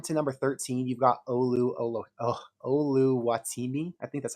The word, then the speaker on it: Oluwatimi: If you scroll down to number 13, you've got Oluwatimi.